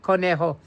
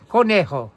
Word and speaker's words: Conejo: Conejo. And yes, thank you, Ricardo. Yes, of course. E is pronounced like A in Espanol. So you did pronounce it correctly. Thank you, Andrew. Conejo.